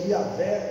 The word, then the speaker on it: Yahvé: Deus lá no hebraico, o eu sou se pronuncia Yahvé ou Yahvé.